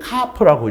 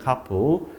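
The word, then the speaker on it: CAFS: 자, 먼저 압축 공기포가 뭐냐 하면 영어로 줄이면 CARP라고 읽습니다. CARP.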